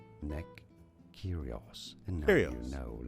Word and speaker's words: Nick Kyrgios: Nick Kyrgios. Yes, the G is essentially silent. Oh, you do not pronounce it. Nick Kyrgios.